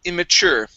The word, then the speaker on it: immature: And the last word for you is the word immature. The stress is on the end of the word.